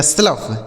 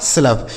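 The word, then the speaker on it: slough: इस ओ यू जी एच का उच्चारण फ इसे पढ़ा जाएगा स्लफ। ठीक है? इसे पढ़ा जाएगा स्लफ।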